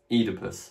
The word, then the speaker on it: Oedipus: Note that that combination OE is now pronounced E, Oedipus. But in Latin, that sound would have been pronounced OI. Now in English, though, we say E, so Oedipus.